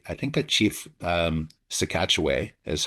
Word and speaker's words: Sah-Katche-Way: And um it was by I think a chief um Sekatchway is how they pronounce his name.